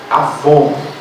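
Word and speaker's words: עוון: Mas a palavra se escreve exatamente como se escreve Avon. Não estou dizendo para ninguém usar Avon aqui, entendeu? É a palavra hebraica que significa iniquidade.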